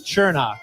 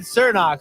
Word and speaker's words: Chernock: Technically, the real pronunciation is Chernock. Chernock. But I've always said Cernock, so you just set us up for the.